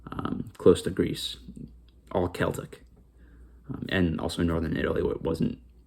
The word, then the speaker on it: Celtic: at this point was Celtic. Um Celtic is the proper way to pronounce it. Celtic is just a basketball team. Celtic is the actual historical term for the uh culture and people.